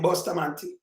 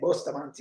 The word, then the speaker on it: Bustamante: Same name Bustamante. Rhyme with panty. And take off. Panty, yeah, Bustamante, yes.